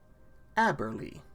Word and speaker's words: Aberly: Rick friendship lasts forever aberly Quarry ah Abberly is how it's supposed to be pronounced okay two administrator from